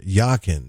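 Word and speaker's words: Jachin: deep breath and will pronounce the password yakin spelled j a c h i n subsequently he will do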